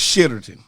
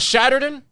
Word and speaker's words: Shitterton: It's Shitterton. No, it's named Shitterton, England. And it keep getting the sign stole. Everybody steals the sign. Is that it's not Shatterton? It's Shitterton. He may not be pronouncing it the No, way it's...